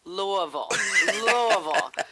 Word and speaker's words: Louisville: Oh, that's Louisville. Like you've been shot with no kick.